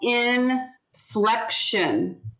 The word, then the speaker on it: inflection: So it's three Inflection. syllables. Inflection. Inflection. And there's an accent on one of the syllables. So listen, inflection. Where's the accent? Flex. Inflection. Flex. Inflection. Which syllable? Inflection. No flex. Inflection. Inflection. F. Yeah, the second syllable. Yeah, inflection. So in is the first syllable. Fleck is the second syllable, and shun is the third syllable. So inflection, inflection. So the second syllable gets the accent.